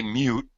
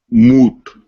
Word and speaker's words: moot: all right uh jendra do not say mute you should say what moot moot very good these are two different words I have heard people